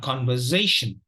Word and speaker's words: conversation: syllable words in the the final syllable will usually be weak so we have a very weak uh here so it is not shun but so the the final uh syllable has to be pronounced like this so it is a conversation conversation now wherever you